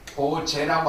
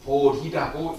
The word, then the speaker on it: 보리: 볼이라고 하는 것은 여러분 아시는 볼이라고 하는 것은 그것은 인도말 보티를 갖다가 중국에서는 이걸 갖다가 보제인데 이걸 읽을 때는 불교에서는 보제라고 않고 보리라고 읽습니다.